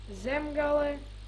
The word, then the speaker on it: Zemgale: Hey, I know You mispronounced all of them. I know there's gonna be a lot of mispronouncing, but it's Kurzeme, Zemgale, Latgale, Vidzeme, and Periga. Pieriga. Not Perigale.